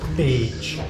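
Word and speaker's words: Pécs: How do you pronounce it? Page.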